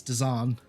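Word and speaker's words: Dzaan: It's Let's the one that have- I said his name wrong during the entire thing. It's Dazan.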